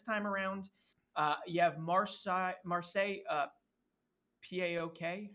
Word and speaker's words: PAOK: You have Marseille, P-A-O-K. How do you say? You just say PAOK, right?